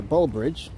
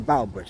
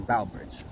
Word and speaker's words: Bow Bridge: here in Central Park it's actually pronounced the Bow Bridge not the B it's the Bow Bridge B bowbridge all right